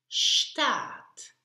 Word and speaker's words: Stadt: And the final D is pronounced here like an T, so t, t.